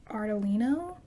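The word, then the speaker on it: Ardolino: by emil i think his last name is pronounced artelino i apologize if i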